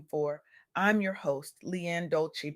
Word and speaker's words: Dolce: I'm your host, Leanne Dolci, pronounced dol-a-say, like sweet softness whispered in French, and I am your